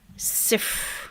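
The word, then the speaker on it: صفر: And we pronounce 0 in Arabic by saying sif.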